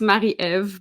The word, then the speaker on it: Marie-Ève: name is actually actually it's Mari EV but no one knows how to say my name so I go by mail in English it's easier and I am what